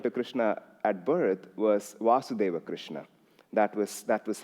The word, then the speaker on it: Vasudeva: how they evolve, becomes Vasudeva. And I'm sorry, that's the most I can do. It's the first syllable is longer. That's how you say it.